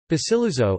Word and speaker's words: Basiluzzo: Basiluzzo (Italian pronunciation: ) is an islet (barely 1 km2